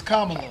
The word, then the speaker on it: Kamala: they already got it say her name right it's Kamala well I don't care what